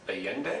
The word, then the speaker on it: Allende: So let's move on to Allende, is that the pronunciation?